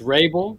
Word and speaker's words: Rabil: that Rabil or Rabil how do you pronounce that it's Rabel that it is some Lebanese Roots so would be correct in Arabic yeah all right perfect